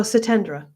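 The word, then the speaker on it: Satyendra: Oh, Satendra. Okay. Lovely. The Y is silent.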